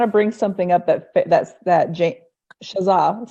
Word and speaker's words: Shazza: Yeah, okay, so I put the wrong emphasis on the wrong syllable. And it's not Shazam, it's Shazar, right? You're gonna really tap into your inner bogan, Shazza. There's no R at the end.